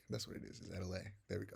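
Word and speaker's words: Atelier: Is Adelaide.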